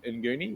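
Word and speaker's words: Nguni: our cattle we're using an African breed called eni which is spelled ngu n for anybody that wants to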